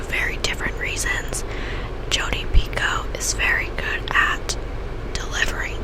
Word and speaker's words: Picoult: And I would say it's either Jodi Picoult. I've learned how to pronounce her name this year. Thought it was Jodi Picoult for the longest time, but it is Jodi Picoult.